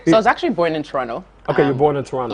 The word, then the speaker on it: Toronto: he was like bro you cannot say toronto the second tea is silent yeah yeah yeah toronto yeah all right yeah